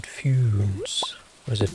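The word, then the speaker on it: Funès: Oh, the S is pronounced? Man, those French people, they make up their minds. So is it Foons? Is it Funes? Or is it Funes?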